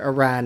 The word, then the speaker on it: Iran: pronounce it but Iran Iranian people want us to pronounce it Iran that's the way you pronounce it so it's a